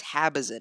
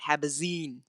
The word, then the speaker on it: Habazin: It's Habazin, not Habazine. God.